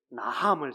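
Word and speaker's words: נחם: 성경은 히브리 말로 나함을 사용합니다. 나함은 지난번에 말씀드렸던 것처럼 나함 이렇게 발음하시면 한숨을 쉬는 느낌을 가지시면 이게 뜻이 확 들어오는데요.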